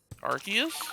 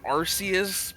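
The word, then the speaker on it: Arceus: I think I think Pokemon's flat out said it's Arus, but yeah, I think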